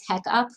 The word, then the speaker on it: Tech Up: call it the monthly tech up because it's like rhymes with checkup um so like each